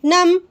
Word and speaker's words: numb: My hands went numb. B silent है इसमें।